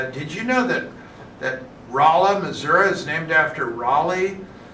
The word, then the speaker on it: Rolla: did you know that Rolla, Missouri is named after Raleigh? And she said, that's ridiculous. We don't pronounce it that way. We pronounce it Rolla.